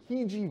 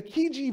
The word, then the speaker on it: Chigi: something known as the Chigi Vase, right? It's kind of a weird pronunciation. It doesn't look like it's spelled. That's the Italian pronunciation. This resides in Italy today. And the Chigi Vase dates to the 7th century BC.